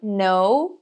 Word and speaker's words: know: Então, when you know, quando você sabe esse no, a gente não pronuncia o K, tá? A letra K.